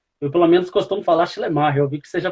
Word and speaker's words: Schleiermacher: pelo menos costumo falar chemar euv que seja pronuncio de uma forma diferente né Danilo é no no alemão mesmo nós temos que dar uma ênfase maior no má né Aí fica esse tá